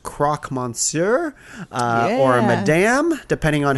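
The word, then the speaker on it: croque monsieur: a few times but I think it's pronounced Croc Monsur uh or Madam depending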